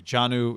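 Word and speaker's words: Jonnu: kendrick bourne hunter henry janu is it johnny is how you say it johnny smith johnny smith love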